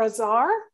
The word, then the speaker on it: Azar: This is the Azar or Azar. Hey, come on in. Yeah, bring it on. Nice. My name's pronounced Azar, by the way. It's like bizarre.